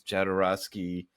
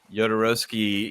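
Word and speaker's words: Jodorowsky: the obvious choice is jadorowski and I'm I know I'm mispronouncing it yodorowski yeah Alejandro yodorowski is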